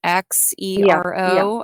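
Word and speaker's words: Xero: it myself again so zero is another something similar to QuickBooks yeah there's some kind of simplified cloud-based platforms out there oh I think is spelled with an X right X zero okay so wave accounting is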